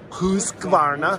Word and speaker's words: Husqvarna: Husqvarna.